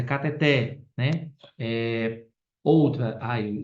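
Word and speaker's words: cateter: errada um exemplo ó muita gente fala catet mas é cateté né Eh outra Ai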